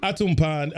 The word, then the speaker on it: Atumpan: Let me see if I get it right. Atumpan Edutainment. All right. Atumpan Edutainment. Atumpan. Okay, I was close. I didn't get the pan right.